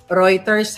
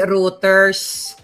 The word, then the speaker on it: Reuters: Reuters ha. Hindi routers.